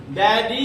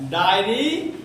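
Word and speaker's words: daddy: डैडी है, डायरी नहीं है। डायरी मतलब होता है लिखने वाला, लेकिन प्रोनाउंसिएशन सुनो, डैडी, ठीक है।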